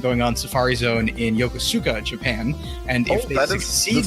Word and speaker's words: Yokosuka: Yoshikawa or something like that part? It was Yokosuka. Yokosuka.